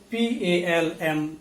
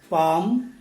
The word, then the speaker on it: palm: second list please note the letter l is not pronounced in all these words so p a l m is pronounced as palm c a l m